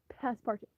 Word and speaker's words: Passepartout: I was trying to remember how you pronounce it because it looks like Passepartout, but he's a Frenchman, so you have to remember half of the letters aren't they aren't they don't matter. Passepartout.